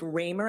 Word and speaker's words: Ramer: expect that we will hear evidence that Chief Ramer and I am I pronouncing that right I am thank you Chief